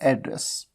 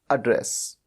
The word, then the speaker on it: address: तो जब भी एज अ नाउन यूज किया जाता है तो प्रोनाउंस कैसे किया जाता है, उच्चारण कैसे किया जाता है, एड्रेस।